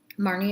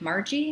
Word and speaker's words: Marnie: Well, Marnie is my name that I was given. I know. I was given the nickname name. So, hi, my name's Marnie. Margie? Marley? Marty? No, it's Marnie.